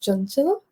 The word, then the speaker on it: Chanchal: My name is pronounced Junilla and um I go by for convenience